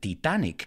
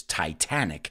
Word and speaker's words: Titanic: the titanic the rms titanic remember we don't pronounce it titanic in english it's titanic if you haven't noticed yet and what is